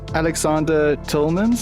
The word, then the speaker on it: Alexander Tilmans: episode of art pod today I'm joined by Aleksandr Tolman's as I pronounced that correctly yes that's correct great I